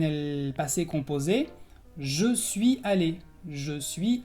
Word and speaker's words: allé: Entonces, el infinitivo es aller y en el passé composé, je suis allé. Je suis allé. Entonces puedes escuchar que se pronuncia igual tanto en el infinitivo como en el participio.